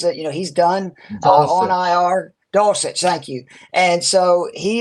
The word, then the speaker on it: Dulcich: Dolce or Deluxe. I'm sorry, I'm a country boy. I don't know how to pronounce it. He's done on IR. Dulcich, thank you.